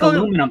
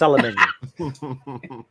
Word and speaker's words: aluminium: I mean, it's a word like aluminum. You have to pronounce it right. Yeah, it's aluminium.